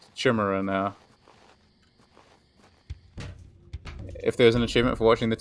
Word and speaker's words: Chimera: funny how I just how I think it should be pronounced shimmerer now if there's an